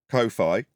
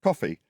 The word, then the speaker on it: Ko-fi: up I did but it's not Kofi although that's how it's spell it's coffee so there's a coffee